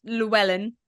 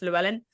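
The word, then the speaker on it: Llewellyn: Dr lellan I think it's pronounced lellan arrived at the scene after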